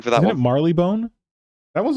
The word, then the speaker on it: Marylebone: it Marleybone? That one's not that bad, That's is it? what it's spelled like, but it is Marylebone.